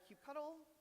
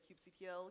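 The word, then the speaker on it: kubectl: do so via either Cube cuddle I don't know I think there's like different pronunciations that people use I usually use Cube cuddle um I know some people say Cube CTL Cube control um and so you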